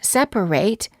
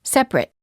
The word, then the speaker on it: separate: For example, the ate ending of the word separate is pronounced ate if it's a verb, as in separate, and it when it's a noun, as in separate.